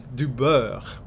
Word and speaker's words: du beurre: But it's du beurre, and the way that they pronounce EU is like, to an Anglophone ear especially, it's Dubai.